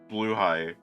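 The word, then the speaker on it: Blåhaj: the the Swedish flag Blue High oh Red High I'm not pronouncing that wrong that's how it's supposed to be pronounced like how should it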